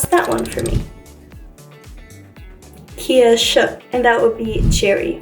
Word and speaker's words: Kirsche: Kirsche. And that would be cherry or cherries. Okay, so that is the difference. SCH is actually a very strong esh, which is what us Arabs are used to.